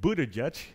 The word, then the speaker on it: Buttigieg: Moving on to South Bend, Indiana, Mayor Pete, Mayor Buttigieg, is that the correct pronunciation?